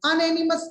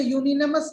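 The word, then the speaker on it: unanimous: अनएनिमस यहाँ पर क्या है, इसे यूनिनमस बोलते हैं, ये यू एनिमस होता है।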